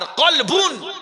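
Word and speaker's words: قلب: আর কলবুন। কলবুন মানে দিল। এখন মাওলানা সাহেব কলবনের জায়গায় যদি কালবুন বলে তাহলে কালবুন মানে কুত্তা। আর কলবুন মানে দিল।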